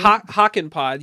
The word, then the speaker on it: Hakanpää: No, Yanni, it's call me. Hockenpod. You were almost dead Hockenpod. on. Yeah, you were almost dead on. I put the wrong emphasis on the wrong syllable.